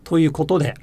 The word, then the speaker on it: ということで: Whereas the phrase ということで, it's usually more or less flat with the accent on the to.